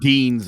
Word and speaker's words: Deines: defending his wbcn ibf uh championships against adam denis teens they're saying deans i've heard it pronounced yeah all right joe break it down